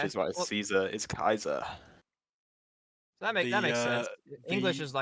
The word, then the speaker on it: Caesar: In Latin, you pronounce all the syllables, so that's how you do it. Which Okay. is why Well, Caesar is Kaiser.